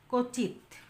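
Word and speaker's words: ক্বচিৎ: হয় সেই বর্ণের উপর একটা ঝোঁক পড়ে যেমন কচিত কচিত মানে এখানে উচ্চারণের সময় একটু দাবায়া দিয়ে একটু ধাক্কা দিয়ে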